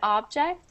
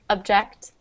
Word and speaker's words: object: Okay, so object is spelled the way it is pronounced, so the first one. And the second one, object, is pronounced as if it was a U, so object.